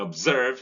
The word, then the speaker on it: observe: Actor, victor, in observe, stress falls on its SERVE, and so the O is weak, the schwa is occurring there.